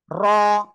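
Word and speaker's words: ر: এই অক্ষরের নাম কি র র র র এই র অক্ষরটা মোটা আওয়াজে উচ্চারণ হবে কোন জায়গা থেকে উচ্চারণ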